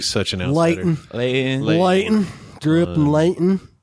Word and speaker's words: Layton: There was one in Layton.